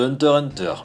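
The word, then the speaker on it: Hunter × Hunter: déjà cette anecdote mais le X d'Hunter Hunter ne se prononce pas je ne veux plus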